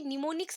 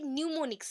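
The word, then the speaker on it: mnemonics: अभी निमोनिक्स word होता है, ये इसको बोलते हैं, एक्चुअली निमोनिक्स नहीं है, ये न्यूमोनिक्स है। न्यूमोनिक्स स्पेलिंग अलग है बट प्रोनाउंसिएशन अलग है, ये लैटिन टर्म है एंड इसको ग्रीक में भी सेम ही बोलते हैं, ग्रीक एंड लैटिन टर्म दोनों आप बोल सकते हैं।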